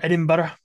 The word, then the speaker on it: Edinburgh: I get my specialty coffee beans from this nice place in Edinburgh, or Edinburgh, like as people like to pronounce it properly.